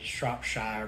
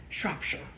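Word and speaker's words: Shropshire: about that that is neat but they started mispronounced it shopshire but my English friend last way correct me no it's shopshire Shire Shire okay shopshire England is where they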